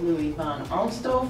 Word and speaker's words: Louis Van Amstel: New Mexico entertainment and we are here with Louis Von arto from Dancing With the Stars wow I love how you pronounce that that's actually the way it's supposed